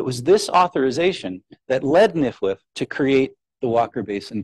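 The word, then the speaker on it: NFWF: and Wildlife Foundation the acronym of which is pronounced nifwith to administer the acquisition program in place of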